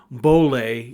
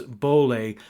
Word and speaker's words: Boehler: So my guest today is Boehler, even though it's spelled Boehler, Boehler.